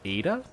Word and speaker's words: Eta: Starship is so cool which apparently is pronounced Ada I found out okay